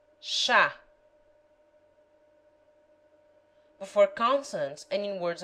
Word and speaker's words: chá: CH has the sound of SH in she. Chá.